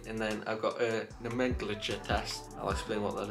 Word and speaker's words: nomenclature: That is how you say it, nomenclature.